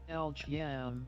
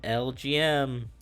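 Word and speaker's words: Elgyem: time for lg pronunciation let's listen to the guy say it lgm lgm can we get that one more time folks repeat after me lgm lgm it sounds like someone's saying game master with like a spanish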